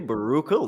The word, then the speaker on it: Baruchel: Jay- Jay Baruchel. That's how you Oh, pronounce it.